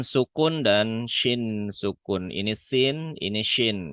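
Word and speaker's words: ش: Huruf sin sukun dan shin sukun.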